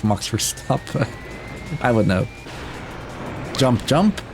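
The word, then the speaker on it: Verstappen: Most people would say Max for step, but no, it's Mox for stop.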